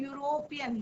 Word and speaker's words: यूरोपियन: एक होता है यूरोपियन, शुरू किससे होता है, ई से, परंतु प्रोनाउंसिएशन क्या हो रहा है, यूरोपियन, यूरोपियन।